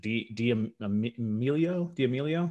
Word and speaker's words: D'Amelio: Let me see if I can pronounce the last name. Is it D'Amelio?